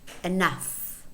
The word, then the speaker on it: enough: For example, ghost, in which the H is silent, or laugh, enough. In other words, GH is normally pronounced f.